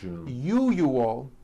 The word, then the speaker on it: usual: word usual correctly usually break it up into three three syllables you oh that second syllable the one with the underline needs to be voiced put your hand on